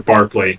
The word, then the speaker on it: Berkeley: And Berkeley was like, what if... Or Barclay, right? It's spelled the same as the city, but it's British, so it's...